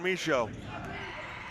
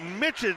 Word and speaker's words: Michaud: Way to go with the French pronunciation. Yes, I go back and forth all the time. I think Mitchell sounds a little more aggressive. You know, you're like Mitchell inside where you say Michaud.